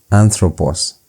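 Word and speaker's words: ἄνθρωπος: That is not a V but is N. And so the pronunciation is anthropos. Anthropos. It's a N.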